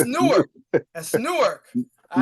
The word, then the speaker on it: Newark: You said it's Newark. It's Newark. Oh, Newark. Newark, New Jersey. Yes. Newark, New Jersey. The New York let me say, wait a minute. You're not about to say it wrong, sir. No, that's Newark.